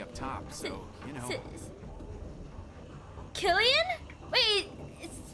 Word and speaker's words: Cillian: Spell C, pronounce K. That's so weird. Killian.